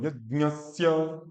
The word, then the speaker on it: यज्ञस्य: हाँ, पुरोहितम, ग मत बोलो, यज्ञस्य, यज्ञस्य। हाँ, हाँ, वैसे ही, यज्ञस्य, ये।